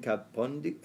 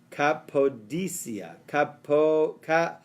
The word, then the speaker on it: Cappadocia: Okay, Rabbi Yishmael said to him, do you indeed have property in Kapundia? How do I pronounce it right? Cappadocia. Cappadocia.